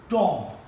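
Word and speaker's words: tomb: today's lecture is एबी इसके अंदर आपने देखना है कि अगर ए के बाद बी आ रहा है तो बी साइलेंट होगा क्या साइलेंट होगा बी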